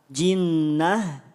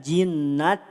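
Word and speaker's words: جنة: dua harakat gunah dengungkan ta marbutah saat waqaf tidak dibaca ta tapi dibaca ha jinnah tidak jinnat ini marbutah beda cerita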